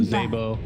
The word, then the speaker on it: Zabo: No, I was just gonna piggyback off of what Jenkins was saying about Zabo, who, that's how you actually pronounce the name for those that are actually wondering.